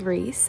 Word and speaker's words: Reese: many videos explaining that in canada there's no extra s on the packaging i know for a